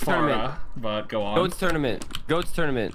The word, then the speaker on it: Pharah: It's pronounced Farah, but go on.